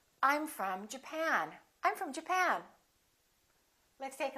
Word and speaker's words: Japan: at the next one did you say japan or japan in this case it's the second syllable i'm from japan i'm from japan let's